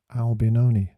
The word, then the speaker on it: Albinoni: italian look is it adagio in g minor albinoni that's it in it i forgot it last